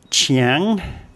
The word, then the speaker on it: Chiang: And we have the chor chang, the ch sound as the initial consonant, and ngongu as the final consonant. Ngongu is easy for foreigners to pronounce as a final consonant. It's not so easy as an initial consonant. So both places start with chiang.